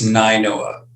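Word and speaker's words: Nainoa: Make sure you do Scott at Am I pronouncing that right? It's Ninoa. Ninoa, huh?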